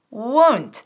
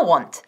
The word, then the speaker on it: won't: Es won't y no want. No seas vaga, tenemos que decir won't, won't.